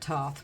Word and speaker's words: Thoth: You know, they pronounce it Toth, but I pronounce it Thoth.